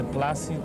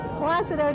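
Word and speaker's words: Plácido: you know they say plasti they said placido placido you know they don't realize the accent is with the a plus you know that's the right way to say that's wonderful okay so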